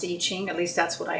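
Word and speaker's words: I Ching: And within the I-Ching, there are 64 hexagrams.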